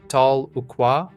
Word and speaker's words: Tahlequah: In 2018, a mother orca named Tahlequah, pronounced Tal-e-qua, made global news when she